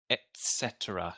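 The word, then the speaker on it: etc.: Etc is not easy it does have a t in the sound right ET Etc a very soft because it's Latin yeah right yeah not an English word anyway etc etc oh you say etc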